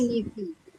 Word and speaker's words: nephew: Bacanya nephew. Karena kalau P sama H itu dibacanya F. Nephew.